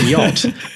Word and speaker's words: yacht: to knock something over but we say yacht but the in yeah that's where that CH came from same thing happened with